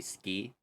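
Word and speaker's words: 好き: is supposed to be ski, which sounds like skiing. It's actually the characters for s and ki, but they pronounce it as ski.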